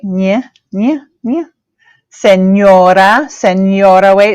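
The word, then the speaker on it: señora: a note that that says right yeah yeah Senora Senora way it's got the Enya that goes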